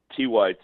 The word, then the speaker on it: TYT: Why don't you tell people what TIT is and why it is that liberals can't seem to do any like hard news without it being sort of sexual? Well, you're mispronouncing it, Ken. It's TYT.